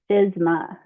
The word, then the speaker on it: FSMA: Okay, so FSMA, it is a federal law and it means the Food Safety Modernization Act and it's pronounced FISMA.